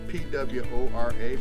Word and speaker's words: PWORA: I remember it's PWORA, but the W is silent. So it's PWORA, because nobody can say PWORA.